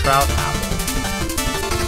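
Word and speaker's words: Troupple: half Apple trout it's trout Apple pronounced like mouth trout son of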